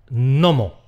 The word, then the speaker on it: gnomo: Más secuencias iniciales que se simplifican: [terodáktilo, nemotéknia, nómo]. El pterodáctilo es un reptil fósil que probablemente volaba. Una mnemotecnia es un truco para acordarse de algo y un gnomo… un gnomo es un geniecillo así… pequeñajo. A estas palabras les pasa lo mismo que a “psicología”. La primera consonante nos la merendamos.